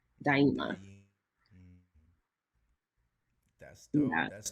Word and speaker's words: Umba Daima: But it's Swahili for create forever, which is and the pronunciation is actually Umba Daima. Dimina? Daima. So like Daima. die, Okay. like dying, and then so die, and then ima, Daima.